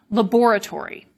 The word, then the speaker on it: laboratory: In American English, for example, we often delete the second syllable in laboratory. And so as I said, it's unstressed, which means that it can get lost. This doesn't happen in British English because the stress is on the second syllable, laboratory.